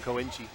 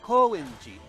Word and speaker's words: Koenji: cube something cube in koinchi that might actually be the wrong pronunciation i think whenever you get off the train in tokyo they say koenji so may i might be accentuating the wrong syllable yeah i thought it's